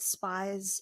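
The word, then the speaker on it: Spiez: laboratory in the documentary called spies Laboratory I believe that's how you pronounce it SP p i EZ and like I said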